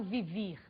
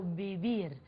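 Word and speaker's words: vivir: céu e as bebia você deve estar estranhando a pronúncia do ver em português ver em espanhol ver tem o som de lã muito próximo ao dedo português portanto eu não falo viver eu falo Bibi Ok vamos para o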